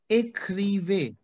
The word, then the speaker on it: écrivez: So you tell me how to read this, because this is an accent like bottom to top. It is going towards right hand side. The sound is Écrivez.